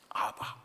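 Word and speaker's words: אבא: 아빠라는 뜻은 아람 원어로는 아바 그런 뜻이에요. 예수님은 늘 하나님을 아바 그렇게 불렀어요. 아바. 그니까 아바라는 정확한 표현이 사실은 아빠 그거예요.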